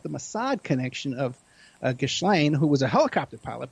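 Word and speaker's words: Ghislaine: but the thing is that's how it's spelled so that's how i pronounce it for people it's the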